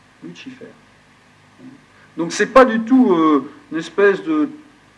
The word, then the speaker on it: Lucifer: C'est le nom tel qu'il se prononce en réalité. En latin, on ne dit pas Lucifer, on dit Lucifer. Lucifer.